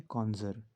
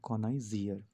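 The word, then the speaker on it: connoisseur: तो अगर इसको प्रोनाउंस करना है तो हम क्या प्रोनाउंस करेंगे? कॉन्जर। इसको हम कॉन्जर ही प्रोनाउंस करते हैं। लेकिन अगर इसकी स्पेलिंग याद करनी होगी तो हम इसको पढ़ेंगे कॉनाइजियर। तो इसकी स्पेलिंग क्या होती है?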